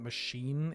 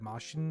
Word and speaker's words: Mashin Name: them spal Maran a you pronounce the E right but it's not machine it's like mashin name that sounded really Japanese right there mashi name